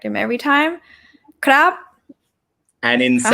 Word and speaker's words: ครับ: Okay, and yeah, the last syllable for male speakers, right? ครับ high tone.